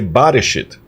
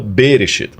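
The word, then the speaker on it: בראשית: In the beginning, porque gramaticalmente, é como ele falou, para ser no princípio, deveria ser Bareshit e não Bereshit.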